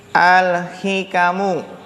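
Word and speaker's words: الحِكَم: Ini bacanya sebenarnya bukan hukmu tapi apa? Al-hikamu.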